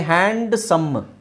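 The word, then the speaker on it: handsome: ಒಂದು ಎಕ್ಸ್ಟ್ರಾ ಅಕ್ಷರ ಹೇಳ್ತೀರಾ ಹಾಗೆ ಹ್ಯಾಂಡ್ಸಮ್ ಹ್ಯಾಂಡ್ಸಮ್ ಅಂತ ಹೇಳೋದರ ಬದಲು ಹ್ಯಾಂಡ್ಸಮ್ ಡಿ ಇಸ್ ನಾಟ್ not necessary ಹ್ಯಾಂಡ್ಸಮ್ hedge hedge sandwich sandwich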